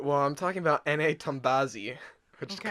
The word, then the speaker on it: Tombazi: Tombazi, which Okay. kind of rhymes with Nazi.